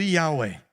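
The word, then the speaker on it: Yahweh: tetragrama hebraico que fala a pronúncia mais ou menos bem próxima do jeito que eu tô falando ia uai a transliterado no português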